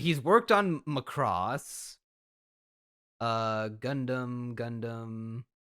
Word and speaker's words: Gundam: Gundam jooks you got you gotta hold out the U if you ain't holding out the U you ain't saying it right and it's going to